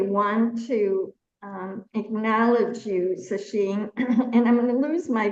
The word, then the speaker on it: Sacheen: Am I pronouncing that correctly? Sasheen Kat.